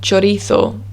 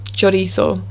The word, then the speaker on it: chorizo: we have the word chorizo which is the spanish sausage quite common in england as well chorizo that's a ch we also have the